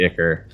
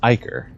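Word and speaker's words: ichor: and slowly start to sink into the icker or actually it's pronounced iker but you make it across okay i think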